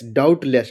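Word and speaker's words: doubtless: फिर चौथा है DOUVTLESS डाउटलेस, डाउटलेस मतलब होता है निसंदेह। हिंदी अर्थ भी जानते चलिए। आपको प्रोनाउंसिएशन भी पढ़िए, साइलेंट लेटर भी आपको ध्यान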